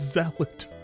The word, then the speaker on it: zealot: nobody stopped him to say hey King it's zealot it's proof that King just sees words but